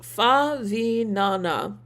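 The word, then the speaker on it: Favignana: Prototype says it's pronounced Favinana.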